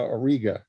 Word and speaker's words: Auriga: on the boundary between taurus and aurora or not aurora auriga or riga that's i say auriga yeah yeah i think chess says auriga right chuck yeah you'll